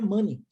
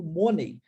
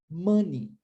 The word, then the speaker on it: money: and i i eu quero ressaltar que a pronúncia da palavra mani porque é muitas pessoas foram cio isso como money E por que que elas falam isso aqui